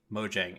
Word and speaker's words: Mojang: they're no longer just Mojang and we found out it is mojang so I've been saying it wrong for forever mm-hmm so they're